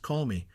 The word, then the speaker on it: Columba: St. Columba, commonly pronounced Colmy, was one of the greatest patriarchs of the monastic order in Ireland and the apostle of the Picts.